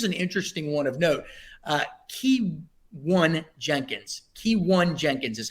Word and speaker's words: Keyone Jenkins: Keyone Jenkins is how you pronounce it.